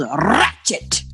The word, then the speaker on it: Ratched: Netflix is premiering a new show called Ratched. You have to roll your tongue. Roll your R. Ratched. When you say it.